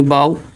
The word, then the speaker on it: bough: उसमें लिखा है कि AU यानी AU या OU यानी AU या OU के बाद आने वाले GH का भी प्रोनाउंसिएशन नहीं होता। जैसे स्पेलिंग है BOUGH यानी बाव, PLOUGH यानी प्लाव, इसे प्लाव पढ़ते हैं, प्लाव पढ़ा जाता है।